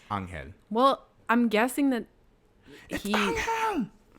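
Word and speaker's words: Ángel: I hate that they say Angel. It's Angel.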